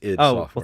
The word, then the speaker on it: id Software: Joey's correcting you in the chat room it's ID software thank well thank you Joey ID software releases